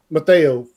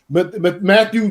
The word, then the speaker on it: Mathieu: Tyrann Mathieu for Mateo safety from. Thank you. No, say Matthew. it how Matthew, it's spelled. It's Matthew. It's Matthew.